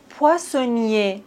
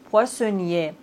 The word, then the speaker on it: poissonnier: Poissonnier. Ici, on ne prononce pas le R. Poissonnier. Mais regardez ce mot. Poissonnière. Ici, on doit prononcer le R parce qu'il y a un E après le R.